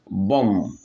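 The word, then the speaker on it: bomb: যখন এম এন্ড বি যখন এম এন্ড বি এম এন্ড বি একসাথে থাকবে ইংলিশ ওয়ার্ডে আমরা বি উচ্চারণ করব না এখানে আমি কিছু এক্সাম্পল দিয়েছি ফর এক্সাম্পল বোম বোম বোমা বোম বোমা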